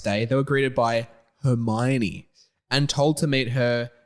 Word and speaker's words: Hermione: I know it's actually pronounced Hermione.